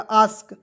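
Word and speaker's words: ask: में ए एस के अस्क नहीं पढ़ेंगे दोस्तो इसे पढ़ा जाएगा आस्क आस्क मीस होता है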